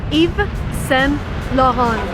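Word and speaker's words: Yves Saint Laurent: United States and again if you want to be correct you want to read it in a French manner so it's Eva sent lawhon each Solrock one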